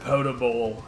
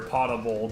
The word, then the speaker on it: potable: Or how the word potable has, or potable, depending on how you want to pronounce it based on its original form, is like, so the definition that you would find now if you were to look up potable, P-O-T-A-B-L-E, is that it's drinkable water. But its original pronunciation would be potable. The word pot is in there.